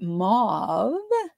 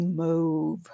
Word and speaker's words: Mauve: Because depending on where you are from, this is pronounced 2 different things. So this is here in the United States, we would call this Moody Mauve.